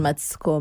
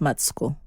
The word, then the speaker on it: Matsiko: means peace, and Matsiko means Matsiko is actually pronounced Matsko, which means hope.